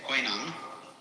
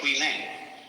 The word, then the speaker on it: Huineng: You see, this guy, Huineng, most people say Huineng. And they've also read a text called the Sutra of W.E. and they say Wai Lang. But this is simply the Cantonese way of pronouncing the same characters, and this is the Mandarin way.